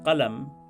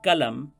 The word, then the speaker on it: qalam: For example, the word for pen is pronounced as qalam in Urdu with the qila sound, but as kalam in Hindi.